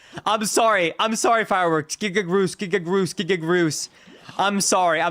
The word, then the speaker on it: Giga Groose: Giga Ruse. Say it right, or I will... Giga Groose.